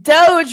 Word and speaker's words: DOGE: How do you pronounce it? I mean, Doge, Dogie, Doggy. Well, it's Doge because it's just like a short joke.